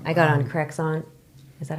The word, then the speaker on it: Crexont: I got on Crexont. Is that how you say it? Mm-hmm. Crexont.